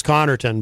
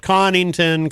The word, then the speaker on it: Connorton: you know my name my last name is connorton but it's been uh said many many different ways especially recently there's this guy in new york who makes these videos about me he pronounces it connington carlington comington uh this many many uh different uh pronunciations not that i mind